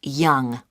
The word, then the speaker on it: Yonge: That's spelled Yonge. That's Young.